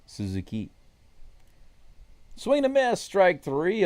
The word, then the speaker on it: Suzuki: For those of you who want to know how to pronounce it correctly in Japanese, it's Suzuki.